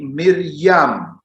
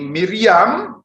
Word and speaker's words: Miriam: Saudara-saudari, nama Maria itu ejaan Latin, sedangkan ejaan Ibraninya itu berbunyi Miriam. Ini Miriam, bunyi asli dalam Ibrani. Miriam, bunyi Aramnya Maryam.